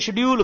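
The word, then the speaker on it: schedule: तो उनको बोलते हैं शेड्यूल कास्ट। अब देखो शेड्यूल की स्पेलिंग देखना, S तो साइलेंट है, इसको क्या बोलोगे, श बोलोगे।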